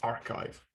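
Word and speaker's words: arXiv: cooler i guess uh but it's yeah it's pronounced archive hosted by cornell university and then the third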